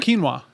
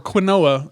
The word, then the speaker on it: quinoa: so kind of like quinoa yeah yeah kind of yeah or quinoa as I used to call it before I heard the word pronounced all right if you